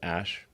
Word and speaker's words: Æ: Um and then the AE is like pronounced ash.